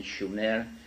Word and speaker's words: Sumer: in in in the correct spelling and pronunciation, Schumer, which meant land of the guardians in southern Mesopotamia, which is today's Iraq.